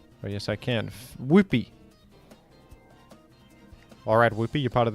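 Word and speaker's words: Wooper: Pronounce Whoopee like you would Yippee. Whoopee!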